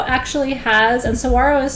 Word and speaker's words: saguaro: the saguaro forest is magnificent it's i think of a